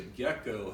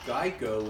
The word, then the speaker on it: GEICO: well what does a gecko have to do with Geico well back in the early days people kept mispronouncing Geico and calling of gecko and so the actual